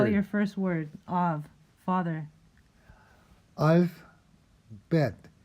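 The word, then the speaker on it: אב: Av, father. Alf, bet. Pronounce av. Remember I told you that kind of hybrid B sound? Kind of B, kind of V.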